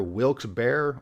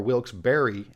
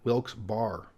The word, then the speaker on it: Wilkes-Barre: From what I have gathered, you can pronounce it either Wilkes-Barre or Wilkes-Barre, and it's okay. Just as long as you don't pronounce it Wilkes-Barre.